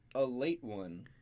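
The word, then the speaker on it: Ale-8-One: is this right so they call it a late one but the way it's spelled is the word ale the number eight and then a small little one written to the side all in one word so if you look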